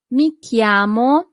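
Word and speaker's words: mi chiamo: Italian that would be mik Claudia mik Claudia always remember that c h in Italian always corresponds to the sound c not CH but C great perfect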